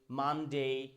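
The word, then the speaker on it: Monday: মেই সেই ডেই টুডে মানডে সানডে তার মানে কি বুঝতে পারলাম যে ওয়ার্ডের শেষে এ ওয়াই থাকলে এ নয় এই উচ্চারণ করব এই টুডে টুডে ইজ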